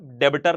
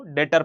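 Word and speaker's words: debtor: हां जी B silent होता है। बी को पढ़ना नहीं होता। डेबिटर नहीं पढ़ना होता इसको। डेटर पढ़ना होता है।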